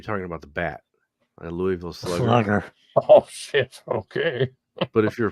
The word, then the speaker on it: Louisville: okay but if you're from like if you ask any you go to Louisville and you ask somebody what there is to do around here or whatever and and you get like you somehow without asking them how to save the town they're going to say Lille that's just how it said so I don't know